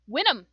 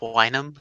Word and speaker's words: Winnem: that will be all winnem uh it's pronounced wine em thank you very much